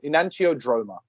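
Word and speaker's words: enantiodromia: make these up inan drama inano Dr sorry in antio droma anti it sounds like it's from an enime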